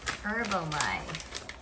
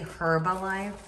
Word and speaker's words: Herbalife: i don't know what this is oh herbalife herbalife did you literally pronounce the age right now and say herb alive no yes no don't play it back